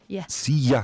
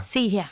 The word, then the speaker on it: see ya: It's not you. It's something more like yeah. See ya. See ya.